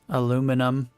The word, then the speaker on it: aluminum: There's a a war between the two elements or the two pronunciations. British use aluminium. Americans use aluminum.